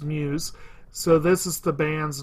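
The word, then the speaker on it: μ's: microns or ever with apostrophe s but it's pronounced Muse so this is the band's name and they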